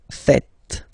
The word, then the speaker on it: faites: It's vous faites. Vous faites. Okay? So remember, final S here is not pronounced, and then this is not pronounced either. So faites, faites.